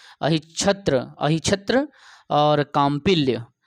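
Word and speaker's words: अहिच्छत्र: अहिचत, देखो अहि आधा च छत्र, अहिछत्र, है ना, च तो है साइलेंट कर देना, अहिछत्र, अहिछत्र और काम्पिल्य, ये दो राजधानी थी पंचाल की।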